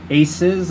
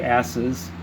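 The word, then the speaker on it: Ases: in council with the twelve aces i don't want to say asses it's just it's spelled it looks like it a-s-e-s without the extra s in there and the high-end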